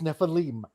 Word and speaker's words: Nephilim: got a Jewish background you have to pronounce it right it's Nephilim so so that always